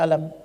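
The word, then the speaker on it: ألم: Lam Mim yang ini alam taro alam nasyrah bacanya alam hurufnya cuman satu Tapi bacanya Kok bisa panjang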